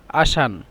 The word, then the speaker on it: عشان: علشان هنا إن للكتابة علشان عين لام شين ألف نون، لكن للنطق عشان. عشان للنطق، والكتابة علشان، لكن أنتم لا تكتبون في الامتحان هكذا. علشان نطق عشان.